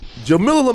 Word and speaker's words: Jamilah: Jamilah Lemieux joins us on Higher Learning today. It's pronounced Jamilah.